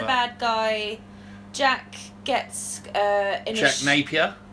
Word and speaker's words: Napier: guy Jack gets just Napier rhymes with rape here okay i'll be doing